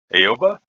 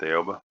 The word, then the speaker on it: Aoba: playing the tier 6 aoba or alba depending upon your particular flavor pronunciation i'm going to stick with aoba matchmaking uh decent both